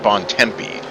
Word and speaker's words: Bontempi: Tim, you gotta stop over-pronouncing these names. His name is Matt Bontempi. That is exactly how I said it. No! I said Bontempi. No, you said Bontempi, like it's Italian or something.